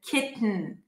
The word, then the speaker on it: kitten: Now don't worry, there is an easier way to pronounce it for some people, but listen, kitten, forgotten, mountain, keep the tongue up, release air through the nose, mountain.